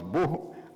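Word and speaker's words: בוא: donc je dis bien se prononce beau en hébreu mais ça s'écrit B O y alléluia donc qu'est-ce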